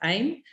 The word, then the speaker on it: AIM: So he has a business called AIM, or pronounced AIM, which is Automatic Internet Millionaire.